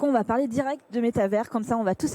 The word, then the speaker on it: métavers: juste avant qu'on commence je crois qu'on dit métavers en français et metaverse en anglais c'est bien ça oui